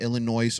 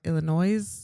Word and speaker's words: Illinois: Illinois with a s like Illinois? Illinois. Nobody says You said Illinois. You didn't know it it was silent? Did you not know that? Oh my gosh. silent? It is silent.